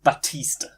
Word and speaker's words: Baptiste: Baptiste. There's no. It's a silent P.